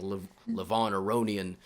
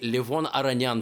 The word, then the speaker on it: Aronian: I got yelled too many times for saying Levon Aronian. People were, they want everybody has to say Livon Aranyan from now on.